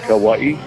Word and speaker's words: Kauai: Is that Kauai?